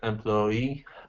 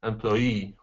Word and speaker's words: employee: And so when there are 2 versions of it, it means that both are okay. Employee and employee, both are considered standard.